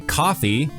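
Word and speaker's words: Ko-fi: dollar we also started a coffee which is spelled KO Dash f i for those who want to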